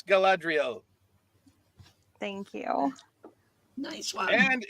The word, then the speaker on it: Galadriel: Yes, it is I'm not gonna get you wrong on the mispronunciation because of how often I mispronounce things, but yes, it's Galadriel.